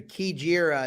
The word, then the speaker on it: Kajira: I think it's Kajira. I believe it sounds like a K sound for Bauer and Leperoux.